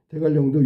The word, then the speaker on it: 대관령: 대갈령도 유하니까 알아둬야 되고 강릉 이거는 비유하니까 알아둬야 돼.